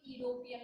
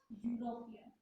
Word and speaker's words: European: We are not saying it European like this. It's European. The word begins with U.